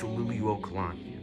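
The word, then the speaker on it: Liliʻuokalani: It's Luli Wokalani.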